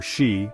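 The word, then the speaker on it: 四: While the number 4, or shi, is associated with death, the number 9, or ku, is also avoided because it sounds like the word for suffering or pain.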